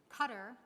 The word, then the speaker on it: Qatar: This new organization had already successfully created cohorts of cooperation in countries from Pakistan to Sudan to Qatar, that is actually the right pronunciation, to Turkey, to right here in the United States.